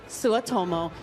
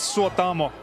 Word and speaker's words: Suotamo: Ladies and gentlemen, Jonas Suotomo. Hi, how are you this evening? I'm very good. It's pronounced Jonas Suotamo. Jonas Suotamo.